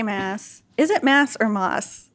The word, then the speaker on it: Maas: For the longest time when I was just guessing, I said Moss as well, and so now I always say it. Now I always say it wrong. But so we're trying to remember to say Maas. Maas.